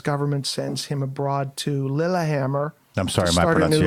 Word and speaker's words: Lillehammer: The French pronounce it differently. Yeah, they do. Lahama.